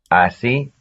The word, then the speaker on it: así: Así, así.